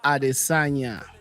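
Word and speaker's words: Adesanya: Am I pronouncing that right? Israel Adisagna.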